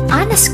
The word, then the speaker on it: honest: Coba dilihat setelah N ada huruf H, yaitu huruf konsonan. Tetapi karena yang diucapkan itu pengucapan bukan ejaan, jadi an honest school, an hour itu termasuk N bukan a honest school, a hour.